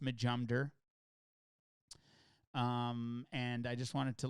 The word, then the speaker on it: Majumder: It's all pronounced Majumder, and that's it.